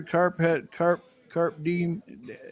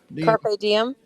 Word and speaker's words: Carpe Diem: Carp Diem. Have I ever come close to pronouncing that correctly? Carp Diem. Carpe Diem.